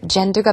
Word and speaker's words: gender: gender가 바로 성별이죠. 발음이요. g 발음이 아니라 j 해서 gender 하시면 되겠고요.